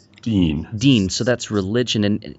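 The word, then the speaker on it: دين: Joseph mentions this in his his uh chapter on the Quran and translation and that's the word din. Is that how it's pronounced? Dean.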